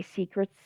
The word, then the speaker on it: Seacrets: And when Josh and Jeannie asked if they were going to Secrets, and by the way, Secrets, which is a bar, is spelled Seacrets as a play on words, and that's when the pair thought, sure, they would go to Secrets.